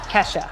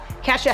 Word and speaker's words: Kesha: Get my Kesha. I said her name wrong. Kesha.